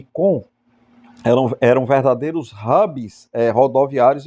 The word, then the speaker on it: Caen: Eles precisavam desembarcar na praia, vencer as defesas da praia, conquistar as cidades de Caretã e Com se escreve Caen, né, em português literalmente, mas se pronuncia Com.